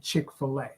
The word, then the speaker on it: Chick-fil-A: say that is chicka look at the way that it's spelled it's f i l a growing up you had a p Filas on filt is spelled what f i l f i l TT that's a filt f fish so I know and I feel strong about it that I'm saying it right it's chick fila she says it's Chick-fil-A we say boost off and